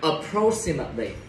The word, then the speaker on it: approximately: Approximately, từ này nhấn vô âm tiếng thứ. Thứ hai. Approximately.